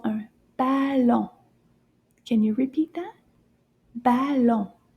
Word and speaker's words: ballon: It's called un ballon. Can you repeat that? Ballon. Let's see how many syllables is in ballon. How many times do we clap our hands? Ballon. Deux syllabes.